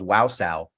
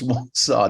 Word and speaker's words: Wausau: No, originally when I actually applied, I mispronounced the name. I thought it was Wausau. I didn't know it was Wausau.